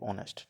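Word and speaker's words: honest: consonant sound ठीक है अब इसमें ऑनेस्ट स्टार्ट विद अ वल साउंड ठीक है वल साउंड है ना उससे स्टार्ट हो रहा है हमें एच साइलेंट है इसलिए हम इसको पढ़ेंगे ऑनेस्ट ठीक है ऐसे ही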